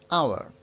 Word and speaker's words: our: Our. Y ojo con esta pronunciación también. Fijaos. Our. Suena igual que la palabra hora, aunque la palabra hora lleve H. Our.